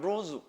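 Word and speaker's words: Luz: 여기 발음은 루즈.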